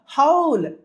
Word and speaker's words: whole: They make the యజ్ఞ impure by థ్రowing flesh and blood into the fire and we have to start the హౌల్, WHOLE, W silent అండి ఇక్కడ.